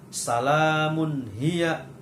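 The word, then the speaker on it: سَلَامٌ هِيَ: Contohnya, contoh yang pertama, salamun hiya. Salamun hiya, ya. Di situ ada tanwin atau dumatain bertemu dengan ha. Jadi membacanya harus jelas.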